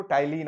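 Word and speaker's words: ptyalin: हम बात करेंगे तो टाइलिन आपका जो पी टाइलिन आपका टी ये पी साइलेंट रहता है टाइलिन ठीक है ये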